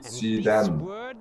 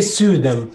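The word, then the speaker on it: Syden: Ikke Sudem. Sudem. The last. Yeah, okay. Siden. Siden. With an open end. Siden. Siden. Yeah. More like that. Siden. Siden. And you have to say it like you don't care.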